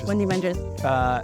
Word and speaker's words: Mundi Ventures: Did I pronounce it right? Yeah, Mundi Ventures.